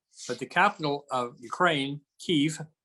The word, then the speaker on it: Kyiv: It is true that the history of the area is complicated, but the capital of Ukraine, Kyiv, no longer the Russian pronunciation of Kiev, was founded in the